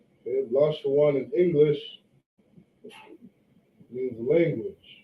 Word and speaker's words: Lashawan: So this word right here, okay, written in the Hebrew is Lashawan. Okay, Lashawan in English means language.